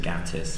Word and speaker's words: Gatiss: Because he is from the north and would pronounce it Gattis. He pronounces it Gatiss.